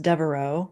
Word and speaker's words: Devereaux: And is her last name pronounced Devereaux?